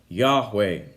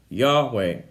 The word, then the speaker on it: Yahweh: The Hebrew name that is actually it's unclear as to what the correct pronunciation of the name is according to Hebrew scholars, but it's most commonly pronounced Yahweh. Yahweh.